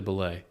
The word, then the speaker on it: Bulleit: people say it different ways apparently it's actually ble no yeah yeah it's the EIT is ble but I call it bullet and I think everyone else does too um